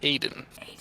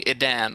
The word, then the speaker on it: Edan: You see, it's Edan. It's pronounced Aiden. A lot of people call me Edan or Eden or some other thing, but I will call you Aiden.